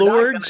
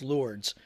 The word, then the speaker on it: Lourdes: But we're Lords, I think is what it's pronounced. Okay. Even though it's spelled that way, but I think it's pronounced Lords.